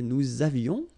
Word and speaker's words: nous avions: So j'avais, final S not pronounced, tu avais, il avait, final T not pronounced, nous avions, let's make this beautiful liaison here, nous avions, okay?